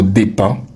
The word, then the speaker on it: dépend: Non non, le verbe c'est dépendre. Et le mot dépend vient du verbe dépendre. Donc on ne dit pas ça dépend. On dit ça dépend.